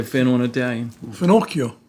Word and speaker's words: finocchio: Finocchio. Finocchio.